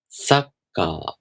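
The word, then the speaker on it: サッカー: But that doesn't mean you can totally skip it. Make sure you hold for the duration of one mora, with your tongue ready for the next sound and without making any sound.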